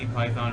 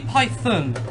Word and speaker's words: Python: It's Monty Python. Python, not Python, Python. And you might say, but we say the animal python. No, because it's a name, alright? You have to say it properly.